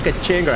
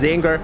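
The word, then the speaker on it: Czinger: yes, I pronounce it Kachinger. I know it's pronounced Zinger, but to me it's the Kachinger and it will never stop being the Kachinger, all right?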